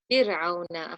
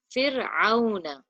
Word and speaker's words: فرعون: Fir'auna. Ahsanti. Pronounce your. The word didn't sound right because your ayn wasn't pronounced from the middle of your throat. Fir'auna.